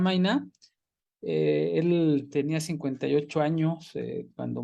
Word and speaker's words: Meynert: el texto theodore maina así lo busque y encontrar su pronunciación en alemán y según esto se pronuncian vaina él tenía 58 años